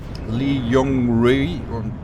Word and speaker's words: Li Yong Rui: I never know how to pronounce that one. Better than any attempt I made. It's Li Yong Rui.